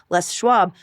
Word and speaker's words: Les Schwab: And so I proceeded to pronounce the name like it was French until six months ago when I actually heard someone pronounce the name correctly.